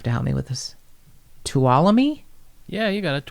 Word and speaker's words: Tuolumne: help me with this, Tuolumne? Yeah, you got it. No one pronounces the end. Tuolumne County.